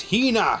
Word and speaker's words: Hina: ヒーナちゃんじゃないってヒー Oh, you keep saying it wrong. It's Hina. Hina.